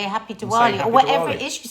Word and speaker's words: Diwali: You can spell it Spell Diwali, but pronounce it Diwali or Deepawali.